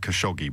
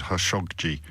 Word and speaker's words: Khashoggi: the Saudi Arabian journalist, which looks like Khashoggi, but I've heard it being pronounced as Khashoggi elsewhere, so I just mentioned that for information purposes.